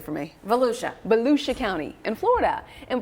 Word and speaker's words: Volusia: Volusia.